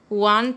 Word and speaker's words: Juan: In Spanish it is pronounced as Juan. Juan también quiere camisetas nuevas.